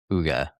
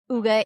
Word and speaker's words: Hygge: called my business Hygge, I called it Higgy for the longest Hygge. time until I really started studying it, that's when I learned the correct pronunciation for all of it, like, really deep diving into it.